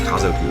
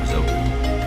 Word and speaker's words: kazoku: Actually, I guess it's pronounced Kazoku, not Kazoku. Mousing. It doesn't rhyme with Goku.